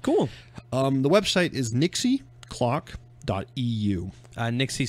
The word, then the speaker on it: Nixie: Nixie spelled like pixie with an N.